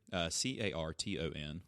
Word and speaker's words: Carton: Steve, New Jersey's Carton Brewery, Carton, like Carlton with no L, honors Neil Peart with lime-lighted Canadian lager and it's pronounced Peart.